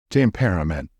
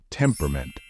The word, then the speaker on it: temperament: each syllable and say temperament however as in the example with chocolate pronounce this word as if there is no letter E in the middle it should be pronounced as temperament with the stress on